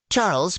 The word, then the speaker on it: Charles: Charles, pronounced the French way as Charles, looked like typical Euro trash to me.